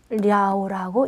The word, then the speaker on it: 了: 여러분 여기 주의할 게 여기에 이 발음이 러가 아니라 랴오라고 읽으셔야 됩니다.